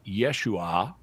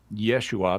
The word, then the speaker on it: Yeshua: is often conjectured that his uh Aramaic name would be pronounced Yeshua but um there are other dialects of Aramaic where the name Jesus is pronounced Isha and so even in Aramaic